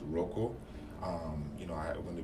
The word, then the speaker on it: Rokeaux: It's Rokeaux. Don't be alarmed. It's still pronounced Rokeaux.